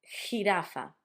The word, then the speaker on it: jirafa: which is J, but the sound for us is it's almost as if you were gonna try to clear your throat if you got a bit of phlegm, like so jirafa. Jirafa. It could also be a very strong H for you, but it's a jirafa.